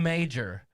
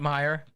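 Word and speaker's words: Meijer: like marketplace thinking about major do you know that when i first moved here i thought it was called major not meyer i swear well it is spelled m-e-i-j-e-r yeah you know i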